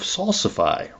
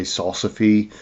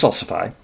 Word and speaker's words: salsify: In fact, it's a um a relative of salsifi or that's the way I pronounce it. I've heard people say salsy. It's salsifi as far as I'm concerned.